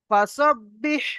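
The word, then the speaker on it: فَسَبِّحْ: ঠিক আছে, চলো তারপরে দেখেন, ফাসাব্বিহ বিহামদি, ফাসাব্বিহ বিহামদি, ফাসাব্বিহ, ফাসাব্বিহ, ফা জবর ফা,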